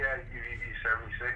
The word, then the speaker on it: UVB76: Well, that kind of leads into my next question here, which is, what is UVB76 music? Am I saying it right? Yeah, UVB76.